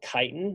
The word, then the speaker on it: chitin: some modified sugars so this is called chitin and I'm not chitin you some people pronounce it different as if there were an S there but I won't say it because this is going on YouTube and I don't want my mom to hear it so chitin is a